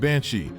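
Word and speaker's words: bean sí: Banshee comes from the Irish term Bean SE pronounced Banshee which translates to woman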